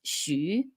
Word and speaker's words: Hsu: my maiden name is HSU. So the pronunciation is Shu. It's like a weird German spelling.